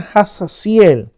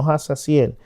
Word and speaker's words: Jahaziel: palabra de su profeta, como el profeta Jahaziel, no Hazaziel. Se escribe Hazaziel, pero se pronuncia Jahaziel, le trajo la victoria.